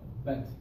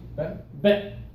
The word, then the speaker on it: bent: try bent oh bent no I heard the te yeah was that b bent that's better I bent my elbow okay like is silent the te is pretty silent instead of a t we do a stop okay I bent my